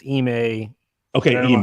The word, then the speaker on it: Ime: I think it's Ime.